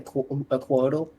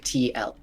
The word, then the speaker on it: Couatl: No, it's Couatl. There's 3 vowels right next to each other.